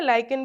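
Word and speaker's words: lichen: लाइकेन भी बोलते हैं या लिजन भी बोलते हैं। इसका प्रोनाउंसिएशन दोनों तरीके से ही होता है।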